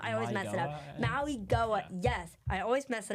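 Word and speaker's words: Mauigoa: Maui Goa.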